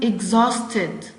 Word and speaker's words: exhausted: And the last one, exhausted. Exhausted. And we have a silent letter which is Yes, the H. H is silent.